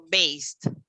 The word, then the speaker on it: based: Mentre la D è evidente, perché avrei dovuto dire based. Ma io dico based. Based. E non c'è la D pronunciata, esattamente come dico produced.